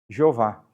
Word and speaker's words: Jeová: E daí vai surgir a pronúncia Jeová, que é o tetagrama com as vogais de Adonai.